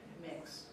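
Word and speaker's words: Mx: Do you know how it's pronounced? mix.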